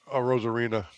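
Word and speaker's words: Arozarena: Matt Rose Arena.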